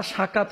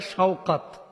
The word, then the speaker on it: শওকাত: হয়েছে সাকাত গাজী তো বাংলা ভাষা আমরা আসলে উচ্চারণ ভুল করে থাকি নামটা সাকাত হয় না হইতে পারে শওকাত তো এটাকে আমরা বাংলাদেশে ওই যে আমি দেখেছি উত্তর অঞ্চলে নামটাকে আবার অনেকে বলে শকত সৈকত এরকমও বলে ফেলে সাকাত লিখেছেন সাকাত গাজী